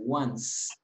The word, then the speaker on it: once: You pronounce the S.